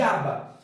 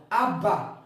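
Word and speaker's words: אַבָּא: isso aqui gente você vai ler aba e qual o significado de aba a palavra aba é uma palavra em aramaico que significa papai ou seja quando uma criança começava a aprender falar a criança falava abá abá igual a criança fala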